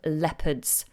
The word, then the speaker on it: leopard: And I found this one about the snow leopards. The snow leopards. Take note of the pronunciation of this word, leopard.